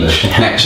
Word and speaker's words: niche: as the authority in that particular niche, or niche, I think it's the correct term, niche that the Americans say.